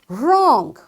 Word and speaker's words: wrong: a game you know so wrestling this W is silent because there is R after this W likewise wrong ren it's it's a beautiful word ren so it's written with W but it's uttered with R.